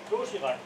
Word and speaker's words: Doshirak: Wie wird das hier ausgesprochen? Doshirak? Doshirak. Doshirak. Genau. Ah, stark. So, wie man es schreibt quasi.